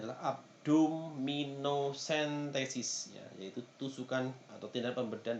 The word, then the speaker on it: abdominocentesis: cairan yang berlebih misalkan tindakan pembedahan abdominocentesis Hai pengucapannya adalah abdominocentesis yaitu tusukan atau tidak pembedahan dengan menusukkan menusukkan